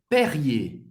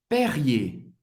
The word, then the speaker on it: Perrier: Perrier. Perrier. Perrier, ok? Esse R bem cultural.